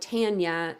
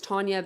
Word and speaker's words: Tanya: like I've I've been I usually get called tan yet even though it's Tanya because of the way it's spelled which makes sense to